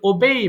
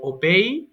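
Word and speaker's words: obey: এরপর ওবেই মান্য করা, ওবেই, ওবেইড, ওবেইড, তাহলে উচ্চারণ হলো কি ওবেই না, এই ওবে না কিন্তু ওবেই হবে, ওবেই। এরপরে অর্ডার আদেশ করা, অর্ডার, অর্ডারড, অর্ডারড, এটাও ভুল করে অনেকে অর্ডার রেড বলে।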